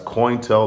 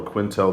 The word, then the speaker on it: COINTEL: That's COINTEL or Quintel, depending on which pronunciation you want to go.